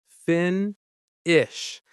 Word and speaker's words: finish: The word finish. Finish. Stress on the first syllable.